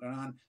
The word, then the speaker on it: Hernan: So Hernan, and so the H is silent, Hernan, a couple of questions